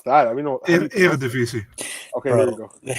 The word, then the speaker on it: Eredivisie: How do you pronounce that? Eredivisie.